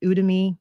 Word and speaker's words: Udemy: but there are these other online sites like udemy I think that's how you pronounce it it's like u d e m